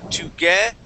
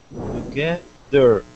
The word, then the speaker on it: together: no no th right okay so the th sound you're gonna stick your tongue between your top and bottom teeth kaido and we'll say together together there you go that's